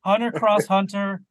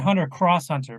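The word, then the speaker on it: Hunter × Hunter: and just Hunter Hunter you don't pronounce the X well I said Hunter cross Hunter because I I was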